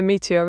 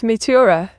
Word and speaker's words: Meteora: It's Meteora, not Meteora. Scoffs, I mean.